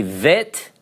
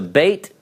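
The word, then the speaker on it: ב: go oh it's backwards some will call this a vet because it's pronounced as a V and this as a bait because it's got the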